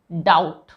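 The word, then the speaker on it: doubt: पे रूल है कि अगर टी से पहले बी आता है ये देखिए टी से पहले बी अगर आता है तो वहां पे बी साइलेंट होता है तो देखिए डाउट ये तो हम दिन में बहुत बार बोलते हैं ना डी ओ यू बी टी तो डाउट यहां पे देखिए इन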